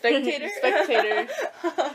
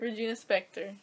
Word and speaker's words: Regina Spektor: something by her a virginia spectator she's like inspecting it doesn't even make sense how do you say it inspector regina spektor spectator that's talking by